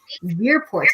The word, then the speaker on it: Verpoort: introduce you to monique weirport am i pronouncing your last name right yeah it's ver like like fur part i like to put